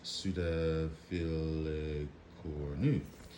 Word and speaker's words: pseudofilicornu: Now, here is what Fred Hillerman says about pseudofilicornu, pronounced pseudofilicornu, is a Latin word meaning resembling a thread-like horn.